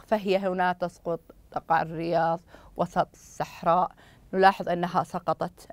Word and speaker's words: الرياض: الكلام تقع الرياض هنا عند وصل الكلام تسقط هنا الالف الوصل واللام لانها لام شمسيه تكتب ولا تنطق فهي هنا تسقط تقع الرياض وسط الصحراء نلاحظ انها